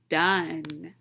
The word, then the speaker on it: done: thinking of another word that has four letters one of them is silent this word rhymes with fun what's my word done so let's read through